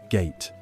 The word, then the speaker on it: gate: Gate pronounced ga-te.